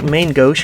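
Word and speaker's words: Main Gauche: like to see the main gouge which by the way y'all know main gash has said it's like main ghost or something it's French it's not said I've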